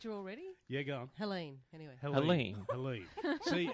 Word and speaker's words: Helene: Helene, anyway. Helene. See, it's spelt Happens Helene, every gig.